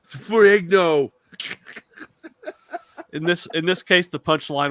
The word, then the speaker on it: Ferrigno: Yeah, he says his name wrong, Ferragamo. That was so fucking It's like, what did he call him? Lou Ferragamo, like the Lou Ferragamo. Ferrigno.